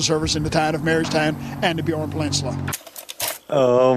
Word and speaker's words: Marystown: Oh yeah, I liked how you slipped up and called him the mayor of Mayorstown. How do you say it? Marystown. The mayor of Marystown. No, it just sounds like you're saying the mayor of Mayorstown, like a town of mayors.